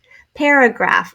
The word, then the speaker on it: paragraph: Paragraph, this was a tough one. I wonder if you got it. This is a schwa sound. Graph, and then the F sound at the end is spelled PH. And lastly, special.